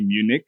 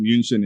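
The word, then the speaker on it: München: favorite city in Germany is actually Munich um toward Munchen in German it's in the state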